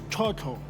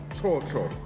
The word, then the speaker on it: chocho: In Tswana, I would like you to pronounce it with me. Okay. We're going to call it chocho. Chocho.